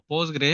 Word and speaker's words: PostgreSQL: Ah primero que nada postgre sql comúnmente pronunciado como postgre es es una base